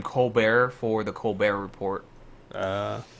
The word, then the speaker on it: Colbert: don't know how to Colbert I heard that he started pronouncing his last name Co Bear for the coar report